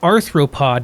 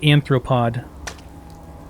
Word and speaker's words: arthropod: abernathy's farm should have it's arthropod not anthropod i guess i think